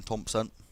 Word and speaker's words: Thompson: McGinn into Jordan Thompson. It's not got the J there because it's spelled differently, the Thompson, but it is pronounced the same, of course.